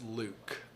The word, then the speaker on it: Luc: it thank you uh luc that's luke and then lip see